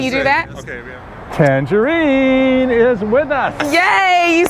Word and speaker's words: Tanjareen: It's pronounced Tanjareen. Like that. Can you do that? Okay, yeah. Tanjareen is with us. Yay, you said it right, Tanjareen.